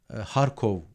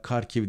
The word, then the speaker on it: Kharkiv: sıkıştırılmış durumda Ülkenin doğusunda Harkov diye okunuyor Türkçede harfi veya Kharkiv diye okunan okuyanlar da var ülkenin iki büyük şehri-i